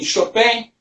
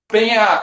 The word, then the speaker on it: Chopin: Então, Chopin é a pronúncia mais perto da polaca, né?